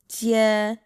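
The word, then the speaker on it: 阶: Jie is how you say steps.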